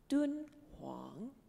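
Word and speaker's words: 敦煌: the Gobi Desert and this is how you say it in Chinese dude Wang so we're gonna start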